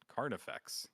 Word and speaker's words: Carnifex: uh yeah I'm sorry I definitely mispronounce caranx it's car carnifex yes carif effect yes yes and I've been saying his name wrong for basically a year now so I do apologize